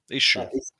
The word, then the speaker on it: ISSUU: Issue. Yeah. Is that what it's called? Is it? Yep. Yeah. Yep. It's spelled really weird, like ISSUW, ISSUU.